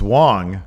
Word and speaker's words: Wang: Apparently, we've been mispronouncing Wang's name incorrectly. Yeah, it's not Wang. It's Wong.